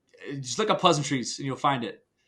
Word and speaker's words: Pleasantries: I think it's just look up Pleasantries and you'll find it. It's no one knows how to say it. It's pleasant, R-I-E-S. It's a noun. It's a plural noun.